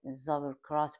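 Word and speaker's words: Sauerkraut: پیش غذای آلمانیه اسمش سابرکراته البته آلمانیا به زابکرات به تلفظ خودشون میگن میگن میگن کلمه‌های خورد شدمونو می‌ریزیم داخل کاسه و یه مقدار نمک روش می‌پاچیم.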